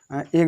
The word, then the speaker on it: edge: तो यहाँ पर देखो जी से पहले हमारा डी है, तो डी क्या हुआ, साइलेंट हुआ। तो यहाँ पर इसको पढ़ेंगे एग माने किनारा।